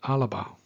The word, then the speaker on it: Alba: Alba, pronounced Alaba is the name of Scotland when it was founded in the year 843.